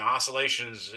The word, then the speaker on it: oscillations: And that's how you pronounce that word. I've heard people trying to pronounce that C in public places before.